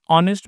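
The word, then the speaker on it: honest: ऑनेस्ट में ए silent होता है। अ यह वाला साउंड आ रहा है।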